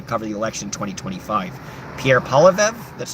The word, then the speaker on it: Pierre Poilievre: Pierre Poilievre, that's how I say his name.